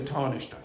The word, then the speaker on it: Taoiseach: The Taoiseach has Taoiseach. Okay, the Taoiseach.